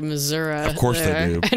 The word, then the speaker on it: Missouri: Misery? It's Missouri. They say it like Missouri.